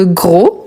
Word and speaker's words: gros: Ensuite, on a gros. Quel est le féminin des gros? Voilà. Donc, gros, on ne prononce pas le S, mais quand il s'agit de féminin, ici aussi, on l'écrit tel quel.